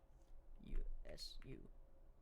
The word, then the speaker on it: usurp: And Misty, having superior powers, managed to usurp. Wait, how do you pronounce this word? U-S-U-R-P. Is it usurp? Okay, I was right.